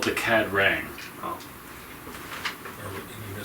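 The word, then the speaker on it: Ka-Rang: Well, they they might know the They're called the Cad Rang.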